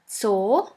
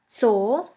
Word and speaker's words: Zoo: And the last letter is Z, Z, which is pronounced like the S in the word bits. Here we have the example of the word Zoo, Zoo, which means zoo.